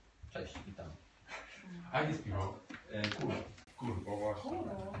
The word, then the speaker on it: cwrw: Kur. Kurwa, właśnie. Ale pisze się CWRW. W walijskim się czyta jako U. U się czyta jako I.